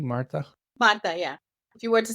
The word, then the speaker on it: Marta: Marta, am I pronouncing your name correctly, Marta? Marta, yeah.